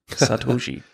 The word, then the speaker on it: Satoshi: I was like, well, it's Japanese and there's 3 characters, so 3 syllables. Satoshi.